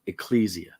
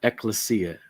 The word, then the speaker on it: ecclesia: It is defined as an ecclesia or ecclesia, depending on your preference of pronunciation.